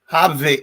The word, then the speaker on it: Hovde: Is it Hovde or Hovde? Hovde. Oh, now I'm gonna have a. I think it's Hovde. Hovde.